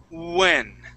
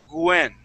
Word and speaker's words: when: Okay, so with those W words, think of an oo sound instead of a W. Okay, and you'll be able to pronounce that. It's the same in Spanish. Sometimes people who speak Spanish, they pronounce that W as a G and they say Gwen.